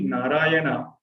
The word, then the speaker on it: Narayana: So if you see Narayana, Na, Ra, Ya, Na, each of the syllable makes us to keep our mouth open, and it makes us to pronounce the word in a, there is a certain stress or effort needed.